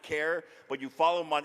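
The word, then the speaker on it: Kjar: how to spell his last name because it's pronounced care but you follow him on instagram at been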